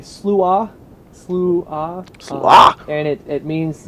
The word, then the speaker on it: Sluagh: It's Celtic. And you say Sluagh, Sluagh.